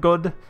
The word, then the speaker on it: Godde: as I know that's a more accurate like Germanic pronunciation of good rather than God I'm pretty sure good is correct please someone who knows